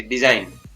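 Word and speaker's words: design: शब्द के अंत में GN अगर लिखा हुआ है तो इसमें जी का उच्चारण है वो नहीं होता है। जैसे DE, DSI, जाई, ज पढ़ेंगे, यहाँ पर एस को ज, डी जाई न, यहाँ पर जी है वो साइलेंट रहेगा, GN साथ में है तो जी साइलेंट रहेगा। इस तरीके से डिजाइन।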